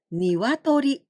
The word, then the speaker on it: 鶏: Well, this kanji only mean hen, rooster, or chick, and we pronounce niwatori, niwatori, and also K. And in rare occasions, we say also tori.